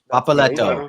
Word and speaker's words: Papaletto: How do you say this team's name? Papaletto? Is that right? Papaletto. Yeah, perfect. I really don't know any of these people.